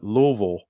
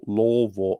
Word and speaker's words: Louisville: in Louisville. Uh, Louisville. How we say that, Jody? Louisville, Louisville.